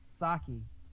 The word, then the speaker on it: Psaki: Psaki. How do you get Psaki out of P? Just that's the way she's pronounced it.